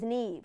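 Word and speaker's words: Niamh: people just don't think for those of you unfamiliar with the Gaelic language that name is spelled n i a m h because in Gaelic any consonant next to the letter H makes a v sound she had it the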